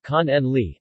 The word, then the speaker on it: Cannoli: Cannoli, Italian pronunciation, con en li, Sicilian, cannula, are Italian